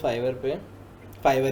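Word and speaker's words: Fiverr: तो उसके बाद वहाँ पे पहला क्लाइंट मुझे मिला था आई गेस फाइवर या फिवर, दोनों प्रोनाउंसिएशन लोग यूज़ करते हैं।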